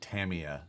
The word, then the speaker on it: Tamiya: it's pronounced yeah and tamiya is the way it's pronounced that's correct nobody says that anyway